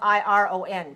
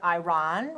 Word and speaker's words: iron: Okay, it's spelled I-R-O-N, but we don't pronounce it iron.